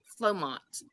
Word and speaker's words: Flomot: time we were going to talk about Hondas flomots flomots am I saying that right flomont yeah